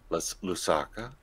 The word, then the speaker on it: Lusaka: invited to one of the uh conferences in lusaka lesoko what was that lusaka yeah my pronunciation sometimes george lusaka and we need to